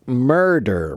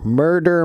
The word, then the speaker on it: murder: and mortar so Giannis murder murder murder murder murder murder that one is definitely a D sound okay the word martyr